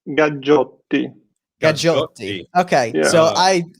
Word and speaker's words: Gaggiotti: In USA, they usually Gaggiotti. Okay. Usually. Well, and I knew the second G was more of a hard G than like a softer one.